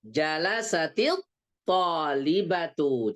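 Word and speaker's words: جلست الطالبة: Jalasatil talibatu. Jadi taknya kalau ketika diwasal cara bacanya menjadi berharokat kasroh. Bukan harokat fathah, bukan harokat dhamma.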